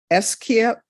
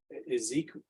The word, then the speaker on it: Esequiel: There's to be no contact with Tiffany, Tiffani, Ares, Ayres, Wayne McClintock, Esquivel, is it Esquivel? It's spelled in an unusual way, Judge. So I think maybe Ezekiel, it's Ezekiel, but just spelled in an unusual way.